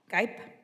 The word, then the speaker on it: Gipe: I want to make sure I pronounce it correctly. Gipe? Oh, see, I was going to say Gippy.